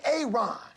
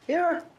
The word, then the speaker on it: Aaron: A Aon. Aaron.